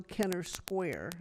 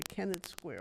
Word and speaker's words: Kennett Square: But this But being, now that they're using the one in Kenner, there's no Kenner Square. It's a Kennett Square.